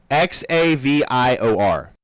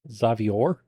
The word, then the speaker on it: Xaviar: Xavior. Xavier? He said it's caviar with a X.